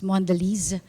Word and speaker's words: Mondelez: Actually, that's how you pronounce. It's Mondelez. It means delicious world, okay, in French.